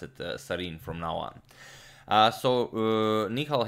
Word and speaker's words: Sarin: that person was not trolling me i will pronounce it serene from now on so Nihal having an excellent